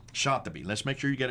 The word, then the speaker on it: Shatibi: Now, how would you pronounce his name? Shatibi. Shatibi.